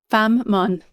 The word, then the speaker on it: Fanm Mon: Fammon.